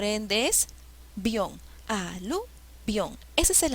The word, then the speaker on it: avión: la que tiene tilde siempre la sílaba que lleva la tilde es la que suena más por ende es avión al avión ese es